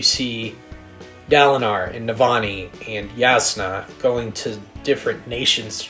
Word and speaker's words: Jasna: Her name is spelled like Jasna, but it's Yasna.